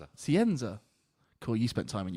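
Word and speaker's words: Scienza: I don't know Le I don't really know how to pronounce Leo's second name. I our other new spicy midfielder. Sienza. Sienza.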